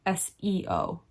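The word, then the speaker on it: 서: S-E-O in Korean, when it's romanized, is Se, not Seo.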